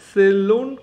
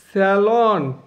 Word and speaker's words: salon: বা ড্রাইভারকে নিয়ে 4 থেকে 5 জনের মতো দরজাওয়ালা এক কক্ষ গাড়িকে সেলুন কার বলা হয়। তাহলে সেলুন একদম উচ্চারণ করবে না, স্যালন। উচ্চারণ কি? স্যালন।